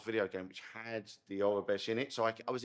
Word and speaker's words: Aurebesh: With no Orabesh, is that the right way to say it? Orabesh. So it's Aurebesh.